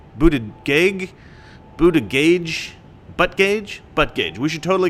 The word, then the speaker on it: Buttigieg: before I accept that this name is pronounced Buddha judge Buddha jig booted gig buddha gage but gage but gage we should